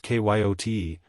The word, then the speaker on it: coyote: rightly this latter was the regular coyote pronounced kyot te of the farther deserts